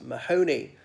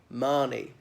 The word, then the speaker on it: Mahoney: and that the his surname or the family name is Mahoney but of course it should be Marni but there we are